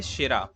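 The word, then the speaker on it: Tschira: ठीक है, क्लाउज शेरा, शेरा में जो है टी साइलेंट होता है, शेरा।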